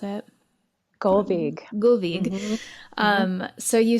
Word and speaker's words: Gullveig: Can you pronounce it? Gullveig.